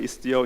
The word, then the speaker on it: Istio: I don't know why open source people are obsessed with Greek words, but the good news is that it's not mispronounced. It's actually Istio in Greek as well.